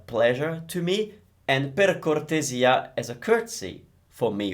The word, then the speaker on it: cortesia: Careful with the pronunciation, it's cortesia, so the S sounds Z because it's between vowels as usual, and we're stressing the E, which is kind of unusual, per cortesia.